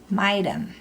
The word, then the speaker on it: maidum: First say maidu, now add an M on the end, maidum. Now say kakan, it is. Now when you say the whole thing, make sure to pronounce that M at the end of maidum, sound, because it comes before the K.